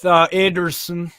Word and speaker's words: Ederson: So they're going with Ederson. That's a Brazilian Portuguese way to say it. That's why it's Ederson, not Ederson.